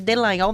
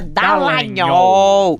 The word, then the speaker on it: Dallagnol: Em junho de 2019, aliás, me corrija, porque eu sempre chamo ele de Dallagnol, mas a pronúncia é Dallagnol.